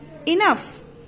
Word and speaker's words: enough: That is थ्रॉफ, तो it is GH are pronounced. Okay, F. Enough, F.